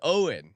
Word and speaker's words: Eoin: I mean, it appears to be a word that would rhyme with groin. Yes. So, oin. Pulled a Eoin. Oh, he says Owen.